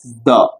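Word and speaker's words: the: काउ और यदि यदि टी एच ई के बाद आने वाले वर्ड का पहला अक्षर फर्स्ट लेटर वल हो तो वहां उसका उच्चारण भाई साहब क्या करते हैं वहां उसका उच्चारण करते हैं दी द अर्थ तो कुछ लोग हर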